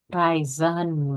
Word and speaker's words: Reisen: Nomor 2, Raisin. Raisen bacanya ya. Raisin.